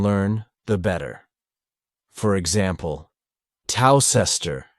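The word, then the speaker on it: Towcester: the better for example toester is a small town in North hamptonshire a toaster is a cooking Implement for toasting bread the two words are written WR very differently but pronounced the same while you cannot learn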